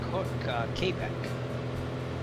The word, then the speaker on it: Quebec: Quebec. Quebec. Say Quebec. Yes. Okay. Some say Kbec, which is the I think that's the French pronunciation, but in the Americanized version.